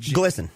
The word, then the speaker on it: GLSEN: together glisten okay yes it's the gay lesbian and straight education Network pronounce glisten GL national student council glen.